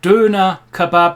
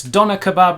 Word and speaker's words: Döner Kebab: No, it is of course the Doner Kebab or Döner Kebab. I'm sorry, the English don't know how to pronounce the German Ö, so it's Doner Kebab where we come from.